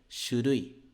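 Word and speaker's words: 書類: de escritório né xurui então de pronúncia ó Shu ru I xurui Ok lembra daquele u que não é um u e sim u então Shui significa documento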